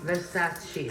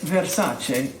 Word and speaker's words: Versace: Versace. Versace. What makes Versace unique?